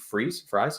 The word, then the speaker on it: Fries: They signed Will, I think Fries is how you say his last name, from the Indianapolis Colts.